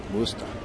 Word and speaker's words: Worcester: That's how they say it in Worcester. Worcester.